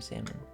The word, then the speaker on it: salmon: Do you call them salmon or salmon? Usually my family calls them salmon. Silent L basically.